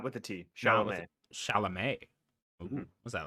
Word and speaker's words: Chalamet: like I think wow so how do you pronounce his last name Charlamagne let me see Charlemagne Charlemagne okay Timothy Charlemagne no not with the tea chalamet what's that like he's friends his name's friendship